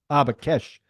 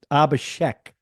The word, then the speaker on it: Abhishek: No, Abakesh. I'm going to screw this up. What the? I want to make sure I say his name right. Abakesh, Abakesh, Abakesh. Yeah, Abhishek.